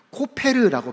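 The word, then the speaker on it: כֹּפֶר: 재밌는 것은 히브리어로이 역청을 어떻게 발음하냐? 코페르라고 발음합니다.이 단어는 덮다.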